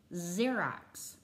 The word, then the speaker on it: Xerox: makes copy machines called xerox it's spelled with an x but what do you hear z i know we haven't